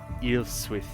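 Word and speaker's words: Ælfswith: Okay, so that is pronounced as a TH. Got it. So it is Ilfswith.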